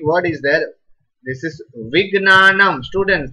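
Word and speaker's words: विज्ञानम्: It should be pronounced as Ma. Half Ma. Right? Like Vignanam.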